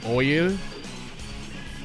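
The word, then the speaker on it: Eoyl: Oyl. It's like spelled E-O-Y-L. It's like a crazy spelling.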